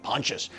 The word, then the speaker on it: Pontius: n t i s I don't know how to pronounce it I was like is it Pontius no I had to put it in Google and then Google told me Pontius 1845 Pontius in West